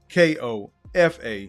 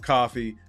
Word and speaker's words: Kofa: Once again, I am your humble host, Kofa, K-O-F-A, not coffee, not kufu, not Kofi, or any variation thereof. Kofa rhymes with sofa.